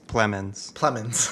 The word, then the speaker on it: Plemons: And I'll also say Jesse, how do you say his last name? Jesse Plemons? Plemons.